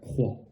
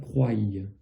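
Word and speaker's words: croient: Et on va dire croit. D'ailleurs, ne pas dire croyez. D'accord? Ça peut s'entendre aussi en France, des gens qui ne savent pas. Mais ici, le ENT ne se prononce pas.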